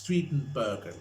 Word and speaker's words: Steenburgen: It's Steenburgen. It's like saying Michelle Strattenberg, and you can't pronounce their surnames because their names are like American, and you have to pronounce it very vividly.